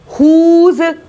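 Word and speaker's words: whose: Next क्या बोल रहे हैं हम, हुज, हुज, ह की आवाज आ रही है इसमें, हुज। फिर होल, होल, इन सब में W का आवाज नहीं आ रही है, W साइलेंट लेटर से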